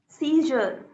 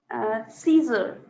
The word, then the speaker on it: seizure: it's z, half z and half sh. Z होता है ना जरा सा. So Okay. that z and half sh. Shalgam wala sh.